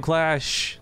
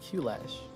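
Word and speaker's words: Qlash: Until then, spawning in the upper right, you're playing for the Team Clash. Spelled with a Q, it's the Red Zerg, Elazer. It's not Q-Lash.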